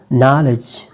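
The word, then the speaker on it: knowledge: बाद के जो है लेटर के इज ऑलवेज साइलेंट न it comes before and एट the beginning of over letter के जो है वो हमेशा साइलेंट होता है जब ये एन से पहले आता है और वट के शुरुआत में आता है जैसे कि नो नाइफ नॉलेज नाक नी इसके बाद हमारे पास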